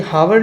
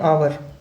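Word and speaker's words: hour: आवर, ये हावर लिखते हैं लेकिन पढ़ते हैं आवर, आवर पढ़ते हैं, तो आ है यहाँ पे वॉवेल है, ठीक है।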